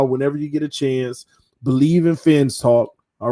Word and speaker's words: Bleav: Whenever you get a chance, Believe in Fins Talk. All right. Believe is not spelled traditionally. It's spelled the same way as the actual podcast network, which is BLEAV.